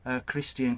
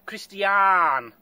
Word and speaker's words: Christiaan: I better find three, hadn't I, so that Christiaan can have one, the lad who's invited us.